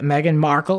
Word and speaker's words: Meghan Markle: Prince Harry, Megan Markle, is that how you say her name?